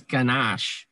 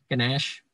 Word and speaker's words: ganache: just going to use ganache ganesh another pronunciation here yes it all depends what part of the the world you're from this means ganache um